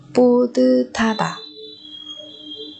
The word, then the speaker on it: 뿌듯하다: Pu tư tha tà, chứ không phải là pu tít ha tà nữa các bạn nhé. Không phải tít ha mà là tư tha, 뿌듯하다.